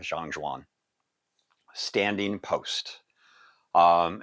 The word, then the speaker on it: Zhan Zhuang: But anyway, as we get into today's focus, Zhan Zhuang, or Zhan Zhuang, like everything we do here, everybody's different, including even that pronunciation. I've seen or heard both sides of the coin from all sorts of different people, including Chinese speakers. So we're sticking with Zhan Zhuang.